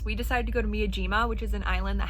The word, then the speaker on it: Miyajima: our amazing bagels we decided to go to Miyajima which is an island that has the floating